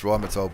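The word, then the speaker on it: Rheinmetall: I know it's pronounced Rhymatold Borsig, but oh, what's this guy doing?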